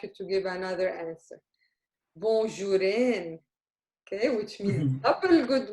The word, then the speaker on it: bonjour: However, we pronounce it as if it's Arabic. We don't pronounce it as if it's French, because in French it is bonjour, but in Arabic, bonjour.